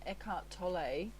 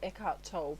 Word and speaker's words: Eckhart Tolle: It's a quote from Eckhart Tolle, or Eckhart Tolle. People pronounce his last name differently, but it says, pleasure is always derived from something outside you, whereas joy arises from within.